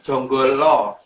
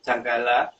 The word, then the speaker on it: Janggala: Lebih tepatnya jonggolo. Jadi jonggolo. Jadi dari dalam penulisan Janggala itu huruf A itu kalau orang Jawa membacanya O.